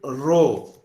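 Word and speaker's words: rho: be called summation d s so now compute row it is pronounced like this row is equal to 1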